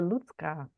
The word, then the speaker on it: Lucka: chat with you again I'm lutka that's how it's pronounced beautiful lutka almost okay